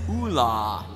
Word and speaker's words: Oola: that character for us the official pronunciation for this character is Oola OA number of dialogue lines